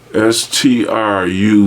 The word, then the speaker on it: Struve: r u v e s t r u v stru yes see now I can